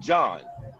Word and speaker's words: Gian: You pronounce his name John. That was John, or, right? Yeah, John. Yeah. It's fucking spelt real weirdy beardy.